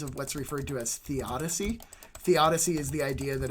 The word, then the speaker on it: theodicy: So you can have all sorts of different beliefs and have different perspectives on theodicy. Not the Odyssey, theodicy.